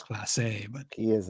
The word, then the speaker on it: Clase: And one trade that was brought up was for Guardians closer Emmanuel Clase, or I've heard pronounced Classy. Pretty sure it's Clase, but he is not classy.